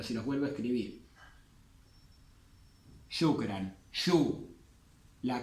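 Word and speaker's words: شكرًا: Y con las 28 letras del alfabeto árabe, sí o sí se agrega el alif, que no se pronuncia. Esto se usaba, como les dije, en objeto directo, pero también se puede usar en adverbios, como en shukran o en afwan.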